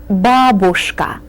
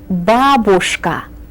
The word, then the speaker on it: babushka: careful with this word the accent falls on the first syllable you said babushka one more time babushka then shift the XM to the second syllable babushka babushka is grandmother and